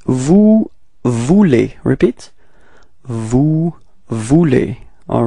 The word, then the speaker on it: vous voulez: And keep in mind that it's vous voulez form, E-Z, when you combine them, especially with the verbs at the endings, it sounds like E, okay, so it's vous voulez, okay, so don't pronounce the Z, okay?